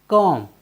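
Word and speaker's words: comb: सी ओ एम बी कम कम मीस होता है कंघा साथियों यहां पर भी हम देखते हैं कि बी एम के बाद आया है इसलिए हमने बी का उच्चारण नहीं किया है साथियों चलते हैं अपनी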